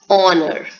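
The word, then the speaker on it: honour: as her sound no H is silent and the sound is honor which is a vowel sound okay similarly the next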